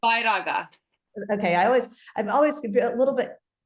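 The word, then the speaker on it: Vairagya: How do you pronounce it for me correctly? Vairaga.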